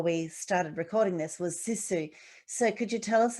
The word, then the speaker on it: sisu: So another question, you had mentioned prior to the hygge, when we spoke before we started recording this, was sisu.